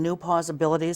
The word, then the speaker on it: New Pawsibilities: So, am I pronouncing that right by saying New Pawsibilities?